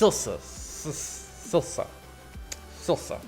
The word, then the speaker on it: Silsa: part four episode four S SSA SSA that's how you say her name products of alchemy never